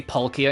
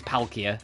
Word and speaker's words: Palkia: I still say pulia instead of palia, but that's like a lot more subtle saying pole instead of pal cuz it is palia.